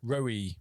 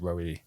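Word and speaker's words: Roewe: so they had to change it to what it phonetically sounds like in Chinese, which is Roe.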